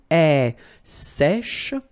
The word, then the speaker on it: sèche: Un sèche. So this one is a bit tricky. So remember, we've got this accent grave here, so it's really open. Sèche, okay, sèche, and then cheveux.